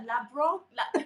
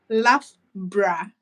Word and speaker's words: Loughborough: When I saw the name of the university, I was like, is that Labro? How do they say it? Loughborough.